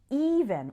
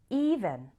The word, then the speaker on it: even: let me quickly call your attention to a pronunciation difference we say even with an e like in c but we say ever with an sound like in get repeat after me even ever even ever let's start with ever this